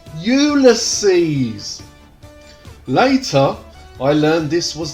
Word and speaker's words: Ulysses: 80s my dad kept telling everyone i was useless i told him at least 31 000 times dad it's pronounced ulysses later i learned this was the latin version